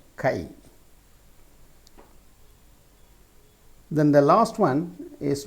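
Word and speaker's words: χ: by the letter k how can you pronounce this letter Kai then the last one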